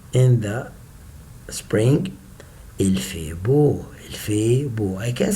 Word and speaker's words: beau: Il fait beau. Here is O, B, and the last three letters, I say it like letter O.